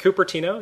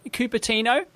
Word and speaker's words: Cupertino: turns up to a local council meeting in Cupertino. Am I pronouncing that? Yep, Cupertino. Yep, Cupertino.